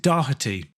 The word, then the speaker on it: Doherty: In England and Scotland, it seems, typically it would be pronounced Doherty still, even if it doesn't have a C in it.